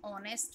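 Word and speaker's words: honest: ठीक है, जैसे यहाँ पर हमने ऊपर देखा था कि एन ऑनेस्ट मैन, एन ऑनेस्ट मैन, ऑनेस्ट मैन मतलब कि ईमानदार आदमी, तो ऑनेस्ट ओ से शुरू हो रहा है, एच साइलेंट है.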